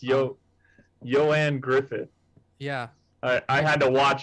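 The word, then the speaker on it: Ioan Gruffudd: it looks like uh like ian with an o and then his last name looks like graffood but it's yo joanne griffith yeah i had to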